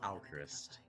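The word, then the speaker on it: Alcryst: Alchrist. Um, so, um, al C R Y S Tris, you know, Christ as in Crystal or Al as in now.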